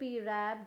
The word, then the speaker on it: wrap: के टाइम में आपको WRAP, रैप, WRITE, right, WRINKLE, wrinkle, या फिर WRONG, रॉन्ग। यहाँ आर जितने भी आप देख रहे हैं ये सब एक रूल्स है, जिसकी वजह से आपको क्या पता चल रहा है कि W क्या हो गया, साइलेंट हो गया।